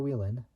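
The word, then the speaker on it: Whelen: race in 1972 with driver Mark dunu NASCAR Willen which is spelled wh say w h e Len modified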